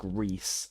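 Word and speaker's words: Rhys: with how they're spelled like Reese RH Ys I could see that I could see that being pronounced Rees right Welsh names are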